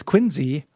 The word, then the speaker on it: Quincy: lot of idiosyncratic pronunciations Quincy is quinsey wurn is wuben uh